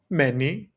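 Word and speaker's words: μένει: And this is pronounced many.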